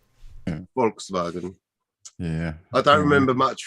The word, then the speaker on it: Volkswagen: gary's gonna have to volkswagens volkswagen on steroidems it's in german it's it's uh it's pronounced volkswagen they they do the w's as v's and the visas f's volkswagen yeah i don't remember